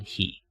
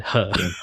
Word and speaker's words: He: name is called Steven her. Her yeah her. Yeah that would like if you are pronouncing in Chinese h is supposed to be sounds like her instead of he.